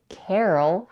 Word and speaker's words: Carol: it's a female name Carl has only one syllable Carol has two syllables the vowel in the